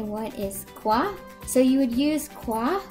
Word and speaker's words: quoi: The informal way to say what is quoi.